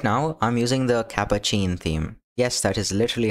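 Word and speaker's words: Catppuccin: Right now I'm using the Capacin theme. Yes, that is literally how it is pronounced.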